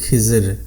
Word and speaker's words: খিজির: নামের নামকরণ করা হয়েছে এই খাদির শব্দটিকে সহজ উচ্চারণে বাংলায় খিজর বলা হয় তাহলে দেখা যাচ্ছে আমরা